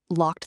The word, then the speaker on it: locked: locked That one has the t ending.